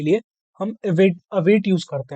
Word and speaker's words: await: इवेट, अवेट, जो भी बोल सकते हैं। मैं इवेट ही वैसे इसको प्रोनाउंस करता हूँ, वैसे अवेट प्रोनाउन, अवेट है इसकी सही प्रोनाउंसिएशन तो।